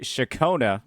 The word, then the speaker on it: Ciaccona: We've got the Shakona I pronounced it right this time.